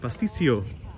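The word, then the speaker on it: pastitsio: Emily says I did pronounce it pasticcio.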